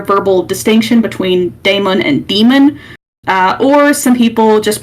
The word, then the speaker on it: dæmon: sound uh it's pronounced so it would be pronounced Daemon instead of uh as I am doing right